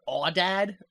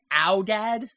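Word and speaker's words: aoudad: So, yeah, what you were saying, he pronounces the word awdad, but it's really pronounced owdad.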